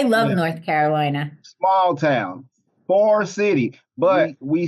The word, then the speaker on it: Forest City: Small town, Forest City. But we say, when I pronounce it, I say Forest City. Like it sounds like either farce or far. But it's forest. It's actually forest.